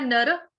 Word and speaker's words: नरः: उसके बाद बोलना है नर, विसर्ग का उच्चारण ह से।